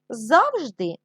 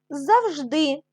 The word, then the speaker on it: завжди: позначте в них наголос деякі слова в українській мові мають подвійний наголос завжди завжди алфавіт алфавіт і так і так буде правильно це подвійний наголос домашнє завдання сторіночка 69